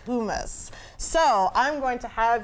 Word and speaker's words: hummus: And it's spelled like hummus, but it is pronounced hummus.